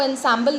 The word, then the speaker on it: ensemble: अब देखिए इसका जो स्पेलिंग है वो ensemble दिख रहा है, but it is pronounced as ensemble.